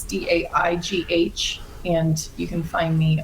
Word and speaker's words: Daigh: But yeah, it's Daigh, and the last name's Irish, so it's spelled weird. It's Daigh, and you can find me on Instagram.